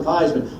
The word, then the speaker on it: Theismann: think by just simply changing the pronunciation of your last name from these four the thighs the Ryan Theismann we guarantee you that trophy that's how I wound up becoming Joe thighs and it's funny how